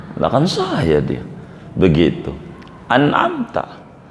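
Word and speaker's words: أَنْعَمْتَ: An'amta atau an'amti, membaca kasrah, ini parah yang kayak begitu. Siratal ladzina an'amti, kalau bacanya an'amta dibaca an'amtu atau dibaca an'amti, bagaimana ini? Kalau sengaja sholatnya batal. Kalau nggak sengaja, maka yang batal bacaannya, yakni Fatihahnya. Ulang saja, kalau jaraknya nggak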